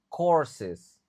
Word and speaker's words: courses: During this pandemic many universities universities I dibaca e ya kan universe senya universities offered online courses u-nya tidak dibaca courses to maintain continuity maintain tadi jadi i dibaca e di sini maintain to maintain continuity.